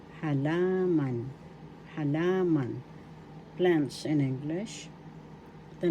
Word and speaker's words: halaman: halaman in English plants halaman first syllable ha second syllable la third syllable man the accent is in the second syllable halaman halaman halaman plants in english